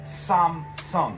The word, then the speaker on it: Samsung: let's start off with the word you've all heard before Samsung except in Korean it's Samsung there's two syllables Sams each